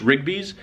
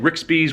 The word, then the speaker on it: Rigby's: It's Rigby's. R-I-G-B-Y apostrophe S. Keenan's boss, the owner, is Christopher Rigby. It's Rigby's. He said Rixby's with like an X in the middle, but I'm not going by Jeopardy rules.